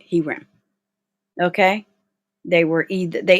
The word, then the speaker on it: herem: whom you completely destroyed he ram yeah that's how you say it he ran okay they were either